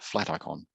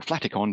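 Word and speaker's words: Flaticon: free pick offshoot called flat icon or flatikon depending how you want to pronounce it so in these cases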